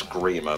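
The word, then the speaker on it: Gríma: Well, technically it's Grimmer, but whatever. 1, 2, 3, 4, 5. Well, it's not Grimace, because that's the purple fucker from McDonald's, isn't it?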